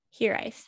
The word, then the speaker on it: hiraeth: h i r h-i-r-a-e-t-h here ice and it is welsh um and it is